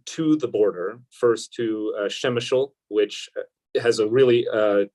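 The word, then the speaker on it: Przemyśl: were uh driven to the border first to shemachul which has a really uh challenging spelling it's uh i believe p r e z m y s l it's pronounced shemeshel um and um we met with a medic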